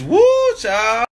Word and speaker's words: whew chile: Like W-H-E-W Chile. Chile? It's woo child.